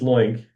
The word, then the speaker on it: LOINC: Um and I will add that it is link as in oink which is why our mascot is a pig.